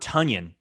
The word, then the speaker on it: Tonyan: I just want to say, I understand that he says his name is pronounced Tonyan, right?